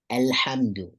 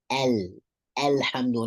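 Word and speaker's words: الحمد: Alhamdu, right? That's the first one. Making sure it says alhamdu, not alhamdu, right?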